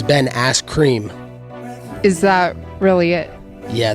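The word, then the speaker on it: Askren: You said it wrong. It's Ben Ass Cream.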